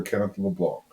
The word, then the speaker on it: Kenneth LeBlanc: So for those, we are very blessed to have Father Kenneth LeBlanc. Did I pronounce that right? Yes, you have. Perfectly.